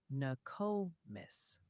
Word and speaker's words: Nokomis: It's actually pronounced Nokomis.